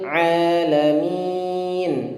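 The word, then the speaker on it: العالمين: bu Robbery Hai Robi lele mint ya rabbil alamin alamin huruf Ain Ah ya ingat air Disini merekrutnya di tengah-tengah Rokan dan ditekan membacanya eh eh lebihin jangan dibaca alamin itu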